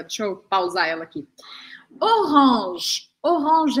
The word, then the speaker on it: orange: me seguindo agora deixa eu paus ela aqui orang orang é a cor laranja or or or